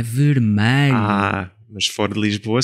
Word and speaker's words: vermelho: Mas nós dizemos vermelho. Parece um A, mas é um E.